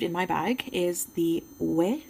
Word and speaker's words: Ouai: Next product I received in my bag is the Ouai. I don't know if I'm pronouncing that correctly, Ouai, but I am French Canadian and that's how I would say it in French, Ouai.